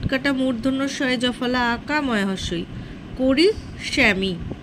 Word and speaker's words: করিষ্যামি: উত্তম পুরুষটা দেখো, এখানে করিষ্যামি বানানটা দন্তস্বয় জফলা রয়েছে, কিন্তু দন্তস্বয় জফলা হবে না, ওটা হবে পেট কাটা মূর্ধন্যস্বয় জফলা আঁকা ময়হস্যই। করিষ্যামি, করিষ্যামি উচ্চারণটা স মূর্ধন্য স।